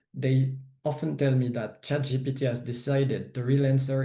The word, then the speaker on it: ChatGPT: because for my audience, AI it's equal to ChatGPT, and it is to be pronounced ChatGPT in France because otherwise you look like a fool, and I've made that mistake.